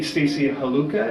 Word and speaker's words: Stacey Haluka: My guest today, Stacey Haluka. Is that the pronunciation?